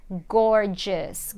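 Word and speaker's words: gorgeous: desta palavra aqui ok gorjuss gorjuss e sempre em inglês que eu tiver esse som de o luz no final do adjetivo então fios gorjuss é esse som de s s não é ous Ok gorgias gorgias se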